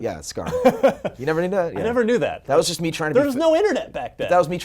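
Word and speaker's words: Skaarj: Oh, the J is silent, huh? At the end. Yeah, Scar.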